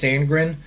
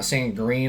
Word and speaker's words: Sandgren: And I believe it's Sandgren, not Sandgreen. I've heard it pronounced in different ways, but I'm going to say Sandgren.